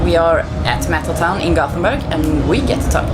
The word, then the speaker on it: Göteborg: We played Gothenburg, is how you say it, or Gothenburg. Göteborg.